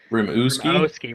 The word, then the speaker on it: Rimouski: well so anyway early we were saying the name wrong its rim you ski rimouski rimouski a screamo ski yeah